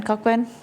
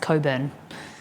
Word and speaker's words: Cockburn: name of Co Coburn cockburn so we have we have an area a town like a suburb called when it's pronounced Coburn is that a cockburn Mal Long Dong was